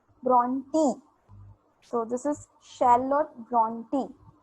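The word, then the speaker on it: Brontë: Why this 2 dots are emphasizing on E, and that's why it pronounced as Bronte.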